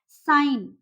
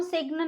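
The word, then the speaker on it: sign: जैसे देखिए यहाँ पे है साइन, इसको हम सिग्न नहीं बोलेंगे, इसको हम बोलेंगे साइन।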